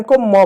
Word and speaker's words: comb: अब जरा ध्यान दो, यहां पर एक शब्द है COMB, तो इसको सी को क पढ़ेंगे, ओ को औ पढ़ेंगे, एम को म पढ़ेंगे, इसको पढ़ेंगे कॉम। कॉम नहीं पढ़ेंगे, कॉम, बी साइलेंट हो, कॉम।